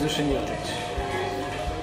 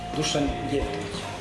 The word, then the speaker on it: Dusan Jevtovic: Hi everyone, my name is Dusan Jatic. I know that many of you will pronounce it wrong reading my name. Dusan Jatic.